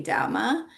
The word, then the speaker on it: Dhamma: Like in Pāli you would say Dhamma, and in Sanskrit you would say Dharma.